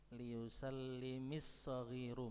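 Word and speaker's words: ليسلم الصغير: Liyusallimis saghiru, bacanya seperti itu. Aslinya liyusallim as-saghiru, mimnya sukun ya. Kemudian mimnya di kasrah untuk memudahkan membaca.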